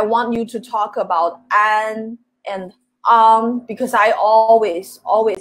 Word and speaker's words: 安: The first one is an, the second one is on, yeah. This sound, I know this sounds so similar, but we pronounce it differently, and they mean totally different things.